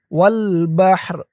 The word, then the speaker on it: والبحر: উচ্চারণটা কেমন হবে খেয়াল করুন ওয়াল বাহর এই তো চিহ্ন হতে অক্ফ করার কারণে রর নিচে জেরটা সাকিন হয়ে যাবে ওয়াল বাহর ফি যুলুমাতিল